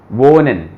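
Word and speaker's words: wohnen: और हा बीच में आए तो उसका साउंड ऑलमोस्ट गायब हो जाता है ना, साइलेंट हो जाता है वो, वोनिन, यहां पे बोला वोनिन। लेकिन इसके लेफ्ट में और राइट में दोनों तरफ वोकाल आ जाए तब उसका साउंड पूरा बोला जाएगा, गेहेन, जेहेन, ऐसे।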